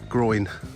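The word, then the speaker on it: groyne: winds um spelled differently they're not the same not spelled the same as the uh part of your body that's at the top of your legs uh these are spelled g r o y n e groin or groins and uh they're to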